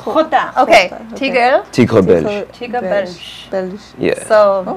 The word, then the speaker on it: Tigre Belge: If you guys have been checking out my posts, his IG name is Tigre Belge. Oh my god, I was gonna ask. How do you pronounce it? Say it again. Tigre Belge.